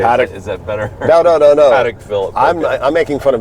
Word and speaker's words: Patek Philippe: Patty Phil. Okay, Patek. No, I'm just Philip. teasing. Okay, Patek. is that better? No. Patek Philip.